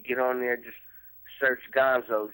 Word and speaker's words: Gonzoe: you told me that your name is pronounced like the Muppet character Gonzo um what made you what made you name yourself Gonzo well Kenny my name been Gonzo before rap like I